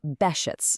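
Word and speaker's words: Behçet's: That's pronounced Behcet's.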